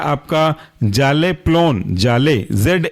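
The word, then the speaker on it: Zaleplon: कहलाएगा आपका जल्प dam next example है आपका जाले पलन जाले जेड ए एल E plough P एल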